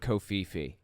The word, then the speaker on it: Covfefe: So he puts out a prophecy about the word kofifi. Listen to this. This is early May 2022. Kofifi is Covfefe. And so that's how it's spelled, okay?